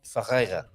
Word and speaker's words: Ferreira: Ferreira. Ferreira. It's difficult to get to roll your R's like that, isn't it?